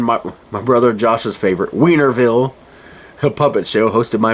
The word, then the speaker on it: Wienerville: Then at 7, my brother Josh's favorite, Wienerville, a puppet show hosted by Mark Wiener. I have to say it like that, Wiener.